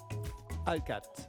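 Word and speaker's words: Hallegatte: Mais je pense que on prononce votre nom à la française, je crois, Monsieur Hallegate, c'est ça, ou est-ce que vous préférez Hallegate? Hallegate.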